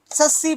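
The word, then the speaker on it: tsetse: एक होता है फीमेल एनोफिलीज, एक होता है एडिज इजिप्टाई, ठीक वैसे एक होता है सैंड फ्लाई, एक होता है सस्सी फ्लाई, T silent, सस्सी फ्लाई, वैसे ही इसका वेक्टर कौन है, माइट।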